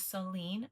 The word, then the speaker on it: Soline: And I was like, we could, but Solene and Charlene rhyme. So we can still spell it Line, but just pronounce it as Lene. So my daughter's name is Soline Rosalinda, decided before she was ever born.